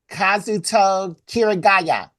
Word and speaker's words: Kazuto Kirigaya: Kazuto Kirigaya. Perfect. Perfect. Perfect pronunciation, Jared.